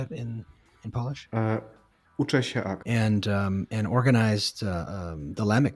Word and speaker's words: Uczę się: Uczę się ACT.